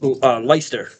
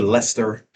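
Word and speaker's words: Leicester: I lived out there for a while, but it is Lyster, I believe, is how they said it. It's spelled L. Was it Lester?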